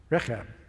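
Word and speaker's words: Rechab: they said no because our father reab reab is how you say it he commanded us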